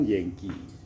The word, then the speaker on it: jengki: Yang benar itu Yengki atau Jengki. Kalau bicara di EYD itu berarti itu Jengki, tapi kalau ejaan lama itu kan DJ kalau kayak J. YANKEE. Harusnya kan Yengki.